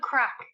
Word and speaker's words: craic: No, Wait, crack is spelled Craic, and it means fun.